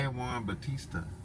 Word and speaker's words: San Juan Bautista: Actually, we got to stop over in San Juan Bautist. Is that how how you say it? San Juan Bautista.